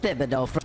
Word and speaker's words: Thibodeau: If it's actually said with the TH, then I'm calling him Thomas Thibodeau.